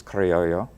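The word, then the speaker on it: criollo: is not just Louisiana it is used in Spanish it's karioyo and it's it's really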